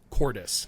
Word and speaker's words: Cordis: AKA the Force phantoms of Khan and, how do we pronounce that? Cordis? Cordis.